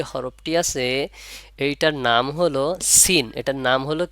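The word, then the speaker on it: سين: এভাবে পড়া যাবে না এর একটা টান আছে প্রপারলি উচ্চারণ করতে হলে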